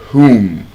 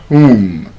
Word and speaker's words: whom: The same thing with whom whom?